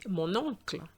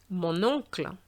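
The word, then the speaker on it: mon oncle: so that will be monocle monocle have you noticed there's a little liaison between the n and the o so that it flows much better and then you have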